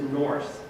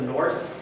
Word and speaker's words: Nurse: You don't pronounce the E, so they just forgot about the silent E. Probably the way they said it is Norse, with the longer U.